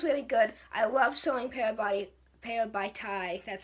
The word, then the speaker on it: Parabatai: I love showing Parabatai, that's how you say it, fighting, because we didn't get to see any of that in the book.